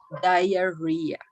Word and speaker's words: diarrhea: The correct pronunciation of this word is diarrhea.